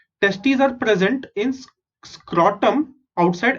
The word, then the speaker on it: testes: Testes are present in scrotum outside abdominal cavity. So इसको मैंने pronounce कैसे किया?